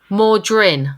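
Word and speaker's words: Mawdryn: cool title as well it's called mordrin Undead muldrin Undead yeah more dren yeah like like more gin but more during m-a-w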